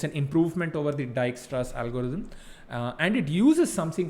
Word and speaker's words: Dijkstra: read about the the dijkstra's algorithm uh it's got a weird spelling so don't mind that um it's pronounced dijkstra uh all right so